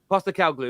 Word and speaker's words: Postecoglou: Because they're about to appoint, and I want to pronounce his name right. Is it Postecoglou? Someone say it faster than that. Postecoglou, that's the one.